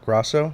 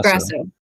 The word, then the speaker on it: Grasso: Grao. Grao. Grao.